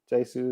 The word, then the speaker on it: Hsu: It's Jesu on Twitter. Did I say it right? Jesu. Yeah. Okay. The H is silent, which trip a lot of people up.